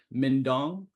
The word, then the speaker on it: Minhdoan: name is or mindong um if you if you don't know how to pronounce that it rymes with dingdong all right so you